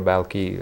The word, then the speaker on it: Balkhi: So some people also call him Balkhi or Balki, how we pronounce it here, because he was born there.